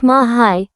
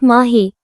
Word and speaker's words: Mahi: Mahi, pronounced Mahai, not Mahi, calls out Abhinav, his voice gentle as he speaks to his baby sister.